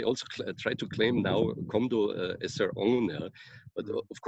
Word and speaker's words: Kumdo: But even here in the, well, they pronounce it Komdo, Kendo Komdo in Korean, and it's usually written Kumdo, yeah.